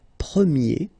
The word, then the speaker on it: premier: And then the sound will change quite much, because if you think about the masculine form, you pronounce it premier, okay? Premier. And then for the feminine form, you will get première, okay?